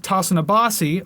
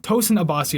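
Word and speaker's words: Tosin Abasi: founder of the animals leaders founder and guitarist tosun abbasi or tosan abbasi i should say i always forget how to pronounce his name properly guitarist javier raves and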